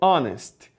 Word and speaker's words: honest: preocupada não por exemplo honest honest é uma palavra que começa com o H só que o h é mudo então o primeiro som que a gente vai ouvir ali é o som do o e por isso que